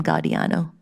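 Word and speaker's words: Giordano: I think he pronounces his name Gadiano.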